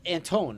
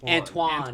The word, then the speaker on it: Antoine: It's Antone, right? Or I think it's- Antione? it's Antoine. Antoine.